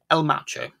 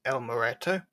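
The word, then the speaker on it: El Muerto: I only realised after the fact that we were saying the name completely wrong. It's actually meant to be pronounced as El Moreto.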